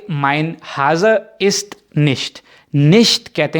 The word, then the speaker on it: nicht: तो आपने कहा कि माइन हाजा इस्ट निश्ट, निश्ट कहते हैं नहीं को, ठीक है, बहुत ही सिंपल है, यानी कि निश्ट, NICHT, CH की साउंड जो है वो शे की तरह है, निश्ट।